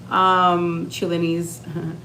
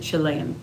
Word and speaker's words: Chilean: Even though, like, let's say you have Chile in you, Chile, you know what I mean, Chilenese, you're Chilean. Sorry, that's how you say it, Chilean.